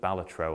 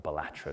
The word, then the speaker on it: Balatro: I've put Balatro on the board here, or Balatro, depending on how you want to pronounce it.